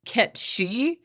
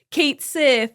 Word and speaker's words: Cait Sith: Anyway, so in the Scottish folklore, this catsith character is pronounced Ketchi in Gaelic, right?